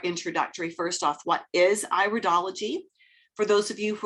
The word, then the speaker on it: iridology: this it is pronounced iridology not iridology it's got a long eye for the first sound constitutional iridology recognizes that